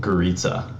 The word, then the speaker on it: Gorica: how it's supposed to sound, like based on how it's spelled. But it's actually like Gorica. What? Yeah, it's my last name, and then my dad's side of the family, where it comes from, pronounces it Gorica because like I don't know. That's just how it's supposed to be pronounced from like Turkey.